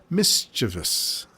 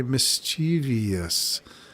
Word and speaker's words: mischievous: such mischievous stuff mischievous I used to always hear people say mischievous and it took me a while to understand what what are you saying it's mischievous so you put the wrong emphasis on the wrong cabable and you get mischievous sounds better to Say mischievous but it's mischievous yeah were you one